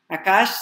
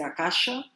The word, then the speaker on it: Akash: Akash se escreve A-K-A-S-H. Pode botar um A no final, pode ser Akasha ou Akash. Você vai encontrar das duas formas.